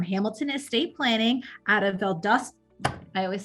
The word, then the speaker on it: Valdosta: y'all and it's okay the automated systems call it valdosta and they they say all kinds of different uh ways but it's uh we typically pronounce it valdosta georgia we're uh about